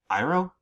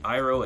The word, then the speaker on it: Iroh: That's how you pronounce his name? Okay, what about Aang? The monks named me Ang. Iroh?